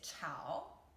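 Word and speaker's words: 炒: fancy means is tomato the third character is chao chao third tone chao which means stir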